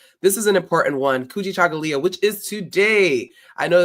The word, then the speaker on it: Kujichagulia: All right, this is an important one, Kujichagulia, which is today. I know that is a difficult word. It's hard for some people. It is Kujichagulia. You can say it where you are. Kujichagulia.